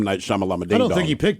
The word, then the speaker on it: Shyamalan: That way, I know when I see his name, I just know it's pronounced Shyamalan.